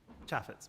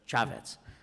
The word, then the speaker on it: Chaffetz: Chaffetz, is that, am I pronouncing that right? Chaffetz, yeah. Chaffetz.